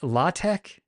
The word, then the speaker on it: LaTeX: oh my God lat latek or latek but there's certainly no the CH at the end is pronounced like the CH of the bach oh l latto latek